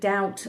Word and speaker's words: doubt: so this is that they wanted the B to remain in there even though it's a silent B to remind us about the origin of the word now one of the